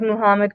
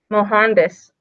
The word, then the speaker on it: Mohandas: Numerous political movements used the Hindu nonviolent protest teachings of Muhammad Gandhi, well, that's not how you say his name, Mohandas Gandhi, to effect social change, including civil rights campaigns of Martin Luther King Jr.